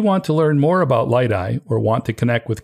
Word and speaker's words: Liteye: hope you enjoyed hearing from Ken Geyer of light I systems I want to thank Ken for taking the time to speak with me if you want to learn more about light I or want to connect with Ken check out